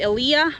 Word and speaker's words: Elia: the saint Elijah Lighthouse I'm gonna say Saint Elia because that's the Italian way and Elijah is not